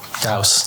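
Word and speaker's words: Gauss: It's meant to rhyme with house. Oh, apparently like a northeast house or northwest house. Northwest. Huh? Gaus.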